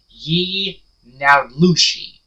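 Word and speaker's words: yee naaldlooshii: Now, Skinwalker in Navajo is pronounced Ye-Naulushi, and it's a type of harmful witch who has the ability to turn into, possess, or disguise themselves as an animal.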